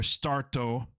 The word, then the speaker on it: Starto: is Start Entertainment, or Starto. That's the Japanese pronunciation of it.